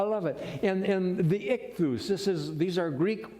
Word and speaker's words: ichthus: i'm hungry i love it and and the ichthus this is these are greek words each of these this word exoi it's called it's pronounced ichthus each one of those has a meaning but